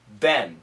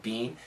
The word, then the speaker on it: been: began there have been American pronunciation Ben b-e-e-n we don't say being most Americans don't say Bean we usually say Ben b-e-n there have been